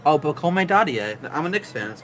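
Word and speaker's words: Pacôme Dadiet: I still never know how to pronounce this guy's name. Oh, Pacome Dadier. I'm a Knicks fan. That's my guy. Okay, Pacome what? Pacome Dadier.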